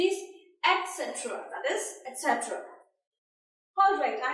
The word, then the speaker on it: etc.: The right pronunciation is etc. Just give your tongue a force on the letter, that is T.